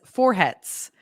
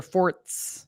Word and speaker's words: Forhets: Because my dad changed the pronunciation of our name without telling us. Ethan says Forhets, which is weird, but I married that. Forhets. His dad would say, "Hello, my name is Dr. Forts."